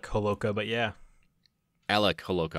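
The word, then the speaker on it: Holowka: by the name of Alex halakhah am i pronouncing that correctly they said it's alec Homolka but yeah Alec who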